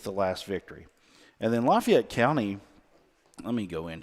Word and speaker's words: Lafayette: Um, and and I say Lafayette. I don't know if it's Lefayet. Is that how they say it down there? No, it's Lafayette.